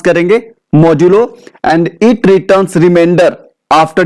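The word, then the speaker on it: modulo: The name of this operator is मॉड्यूलो, जो normally में देखने जैसा परसेंटेज का साइन है, बट इसे हम क्या प्रोनाउंस करेंगे? मॉड्यूलो।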